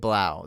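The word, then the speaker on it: Blough: it's a david Blau david Blau that's how it's pronounced I don't know why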